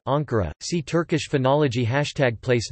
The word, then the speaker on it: Ankara: Proper names are usually accented on the penultimate syllable as in istanbu, Istanbul, but sometimes on the antepenultimate, if the word ends in a cretic rhythm ux, as in Akaa, Ankara.